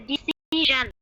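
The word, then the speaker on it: decision: ঠিক আছে, ডিসিশন একবার শন বলবে না, টিআই ওয়েন কে আমরা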